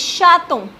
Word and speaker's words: chaton: Next word is chaton. Chaton is baby cat. Again we have vowel after T, so it will be pronounced.